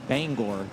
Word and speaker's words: Bangor: Mary family came up and told us that it's Bangor, like as in Bangor, Maine.